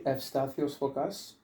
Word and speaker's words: Evstathios Fokas: So Yeah, so it's actually Evstathios Fokas. That's the Greek pronunciation.